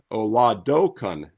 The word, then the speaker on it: Oladokun: And by the way, it's Oladokun. Oladokun. I looked up the pronunciation. Yeah, La and Kun.